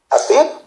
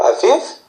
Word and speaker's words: Aviv: Likewise for the months, he named the first month Abib or Aviv, according to your pronunciation, then second, third, etc.